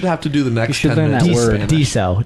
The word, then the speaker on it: Daiso: to do the next dieso Daiso that's how you say it roll Daiso they all